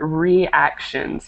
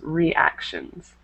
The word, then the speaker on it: reactions: Okay, and then this one right here, reactions. Make sure to make it 2 separate syllables. Reactions.